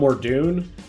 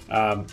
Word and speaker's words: Morlun: Morlun, not Mordoon, Morlun.